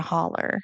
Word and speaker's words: holler: So people did a really good job of explaining what a holler is and the fact that we pronounce it ER instead of OW.